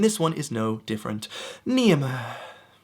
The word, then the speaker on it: Niamh: Niamh. Making sure you're sighing. You're sighing because you live in Ireland and you're very happy with that.